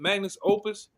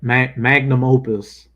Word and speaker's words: magnum opus: Oh, how you say it? Magnus Opus. Yeah, magnum opus.